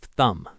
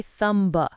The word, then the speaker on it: thumb: It's much easier to just end on the M sound and not release the B. Think of thumb. You don't say thumb, just thumb. It's the same for comb, bomb, climb, and numb. If you see an MB at the end of a word, that B is a ghost.